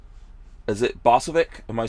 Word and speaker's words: Bosovik: special show we've got uh is it bossovic am I saying that right yes sir right